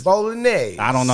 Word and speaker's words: Bolognese: Bolognese. There you go. It's Bolognese. I don't know how to pronounce it when I told read y'all it was a Bolognese sauce yesterday, motherfuckers.